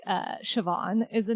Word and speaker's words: Siobhan: and then when you find out like uh Siobhan is a name that's like S I O B H A H N and I'm like oh that's Yeah. And I'm just like that's Siobhan.